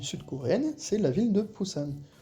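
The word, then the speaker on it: 부산: c'est la ville de pousan pousan en français on peut la retrouver écrit avec un B ou un P mais gardez bien l'idée qu'en coréen c'est la même chose et c'est toujours cette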